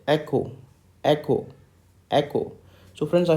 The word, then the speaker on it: Echo: letter that is e the phonetic spelling of letter e is c k emphasize this o h okay how do we speak this echo echo echo okay so instead of